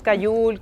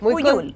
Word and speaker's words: Cuyul: no te sientas mal, Cayul, Cuyul. Me han dicho siempre que mi apellido se pronuncia de muchas maneras y nada, me encanta. Es Cuyul. Es Cuyul.